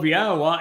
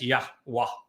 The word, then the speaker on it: Yahowah: They came up with an amazingly foolish and inaccurate rendering, even pronunciation of YAHOWAH as Yahweh.